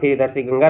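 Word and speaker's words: Tsangpo: सांगो का स्पेलिंग दोस्तों टी से शुरू होता है। टी साइलेंट है। इसे आप ध्यान रखेंगे।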